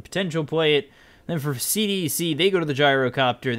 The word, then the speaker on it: CDEC: Also CDEC, but it's CDEC. We were all told at TI5 that is the proper pronunciation, and that is what I'm going to